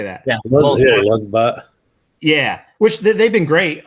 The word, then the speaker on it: LulzBot: Yeah, Lulzbot.